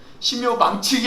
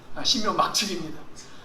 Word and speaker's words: 신묘막측: 얼마나 신묘막측한, 발음을 잘 하셔야 돼요. 신묘망측이 아니라 신묘막측입니다.